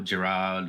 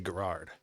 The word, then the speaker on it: Gerard: So it's the original Maltese spelling, which is Gerard. So it can be a little bit weird. Okay. So like I would say Gerard, something like that. Yeah. So the way it's spelled, it isn't pronounced that way.